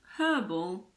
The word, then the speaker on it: herb: H in the words herb and herbal also aren't pronounced so in American English these words are herb and herbal but don't worry most